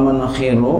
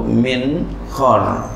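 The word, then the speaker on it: منخر: Bikasil ha bikasil kha dan kasra kha al mu'jamati yang bertitik satu. Kharakul anfi itu adalah lubang hidung. Membacanya boleh kalau min khar man khir boleh aja. Tapi karena di sini pengarangnya membahas wal man khiru bikasil kha-nya, kita harus baca begini ya.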